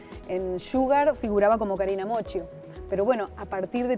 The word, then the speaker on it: Moccio: Mi apellido, Moccio, italiano, siempre lo escribían mal, se pronunciaban mal. Y encima en España el mocho, viste que decís mocho, Exacto.